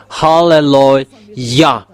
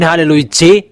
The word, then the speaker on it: Hallelujah: to glorify that halleluah there is no one saying hallelujah you know are wrong fans that people are saying it becomes hallelujah even in your Bible saying halleluah and that is yah